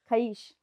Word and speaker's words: खबीस: हमने सुना अभी लेटली, खबीस, कि वो जिन का बच्चा होता है। आप उसको किसी और तरीके से प्रोनाउंस करते हो? खईश। खईश। तो मैम इसके बारे में थोड़ी बात करते हैं।